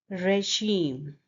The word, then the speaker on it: regime: And the next word is regime. Re, as you say it in day. Regime. Here the stress is on the second syllable.